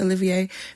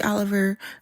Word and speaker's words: Olivier: I'm saying Olivier, but it's spelled O L I V I E R. It could be Oliver, but I'm pretty sure it's Olivier or Olivier.